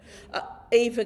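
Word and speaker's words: Aoife: How do you pronounce that? I think I know that because I know her. Eva Clifford. Yes. And that's a Irish spelling.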